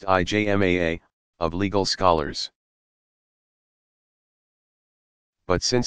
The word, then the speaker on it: ijma: Ijma, pronounced IJMAA, of legal scholars.